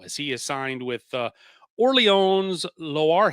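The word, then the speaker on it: Orléans Loiret: he is signed with Orleans Loire. At least that's what Google told me how to say it. Or it's just Orleans Lorette for my old Midwestern self.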